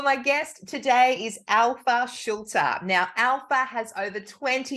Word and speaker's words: Schulte: It's a German name, so you pronounce every letter, so it's Schulte, but it's Schulte.